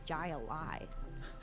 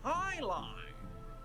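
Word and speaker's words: jai alai: play against the Bellows bloodhounds the heck is Jay alive it's pronounced Highline what the heck is highlight if you don't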